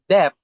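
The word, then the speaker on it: debt: For example, the night, silent K, GH, and depth, silent B.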